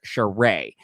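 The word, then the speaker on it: Shereé: pronounced sheree and then cheray from atlanta is pronounced cheray so it's a little uh do you have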